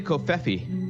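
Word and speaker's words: covfefe: We say kofefi, but I hear there's many ways to pronounce it.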